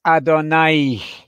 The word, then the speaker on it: Adonai: you have there just a straight line so pronouncing that word correctly is adonai the word is not adonai equals god there